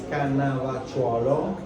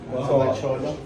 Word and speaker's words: Cannavacciuolo: My last name is Cannavacciuolo. Cannavacciuolo. Cannavacciuolo. It's not easy. It's tricky even for Italians to pronounce.